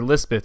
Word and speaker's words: Lispeth: guard chaplain christened her Elizabeth or Lizbeth on the hill or Pahari pronunciation later cholera came into